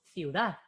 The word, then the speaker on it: ciudad: la fuerza de voz decimos ciudad o decimos ciudad decimos ciudad entonces Dad eh tiene la fuerza de voz Entonces tenemos sílaba uno